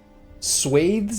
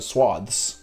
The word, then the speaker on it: swathes: Swathes is one of those words that you read your entire life without ever hearing someone pronounce it ever. And I don't know, I don't even think I knew it was pronounced swathes. I think I probably called it swaths my whole life.